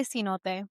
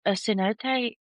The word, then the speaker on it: cenote: I say cenote. Okay. Um, so these have, like, fascinated me forever. Yeah, And yeah, so I'm gonna read a little bit about them. A cenote is a natural sinkhole or pit that forms